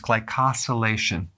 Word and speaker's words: glycosylation: And the pronunciation is glycosylation.